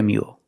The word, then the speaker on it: mule: Only a horse and a donkey can make a mule.